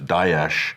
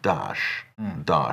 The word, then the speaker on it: Daesh: There's Daesh, which is more accurate. That's the Arabic one. Then there's, I think, David Cameron, Dash, and then there's Dash, and then there's Obama, which is Dash.